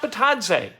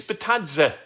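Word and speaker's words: Bitadze: call him goga batadza i continue to hear people in the media say batadze it is not battadze it's batazza i asked him that's what he said so why don't we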